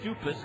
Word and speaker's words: Dupus: is right-hander Greg dupus d p and I asked how to pronounce it is it is dupus Greg dupus takes over